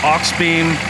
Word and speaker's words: Auxbeam: These are, and now mind you, we got a mailbox in the way, but these are the aux beam which is spelled AUXBEAM Q40s.